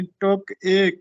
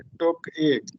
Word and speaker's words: ٹک ایک: تھوڑی دیر کے لیے۔ یہ درست تلفظ اصل میں جو ترکیب تھی وہ ٹک ایک تھی، یعنی ٹک ایک یہ لفظ تھا تھوڑی دیر کے لیے، ٹک ایک۔ بعد میں یہ اردو